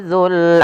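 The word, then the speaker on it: ذُو: Kemudian wal habbu dzul asfi, yang dimana di sini pada lafal dzul, hati-hati dalam pelafalan huruf za-nya, jangan sampai terbaca dengan zai kembali.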